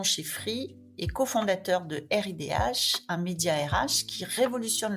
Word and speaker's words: Ridh: Alors, on dit plutôt RIDH.